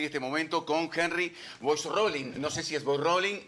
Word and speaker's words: Boisrolin: ¿Cómo se pronuncia? Ahí va. Exacto. Henry Boix-Rolling.